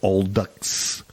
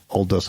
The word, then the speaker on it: Aldous: a novel written and published in 1932 by old ducks I'll do so I'm sorry old US Huxley that's a hard that's a hard first name to pronounce yeah Aldous Huxley who names your kid Aldous but the